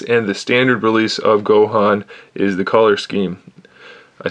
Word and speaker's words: Gohan: exclusive Dragon Ball Z Goku, or Gohan, of course I say it wrong. Gohan, this is not Goku, very big difference.